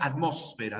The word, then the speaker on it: atmósfera: estratosfera salvo la palabra atmósfera no que solo se pronuncia como esdrújula la terminación mansia también